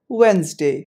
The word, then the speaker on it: Wednesday: residence up there this word is to be pronounced as wednesday number nine a term from biology this word